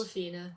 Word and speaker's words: Awkwafina: Then we have the other side of the film with Awkwafina. I think that's how you pronounce it. Awkwafina, yes.